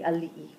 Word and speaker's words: ali'i: Guys, how do we pronounce it? The ali'i.